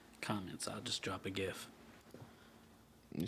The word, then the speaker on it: GIF: G and GIF is a hard g a very hard G like sound gangra yeah